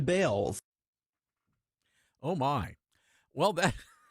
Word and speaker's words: Baals: After all, the family did change the pronunciation of their last name from Baals to Bales.